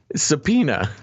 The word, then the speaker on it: subpoena: would you say it subpoena subpoena that's how it's written that's how it's spelled peanut i know or polena subpoena but it is it's one word it's subpoena all right it's a silent b no i like yours